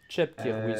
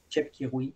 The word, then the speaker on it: Chepkirui: Chepkirui, selon moi. Chepkirui. Ben, comme Cheptegei, là, tu sais. Ouais. Souvent, tu le prononces le ch.